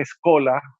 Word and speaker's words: schola: muy importante muy renombrada que resulta que es cola se dice en italiano bears turolense y vídeo se escribe ssh oea pues era que si lo lees en español dice chola entonces nosotros hemos hecho